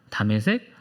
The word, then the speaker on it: 다메섹: 자, 이 다메섹이라고 하는 곳은 지금의 시리아의 수도 다마스쿠스의 히브리식 발음입니다. 다메섹, 다마스쿠스.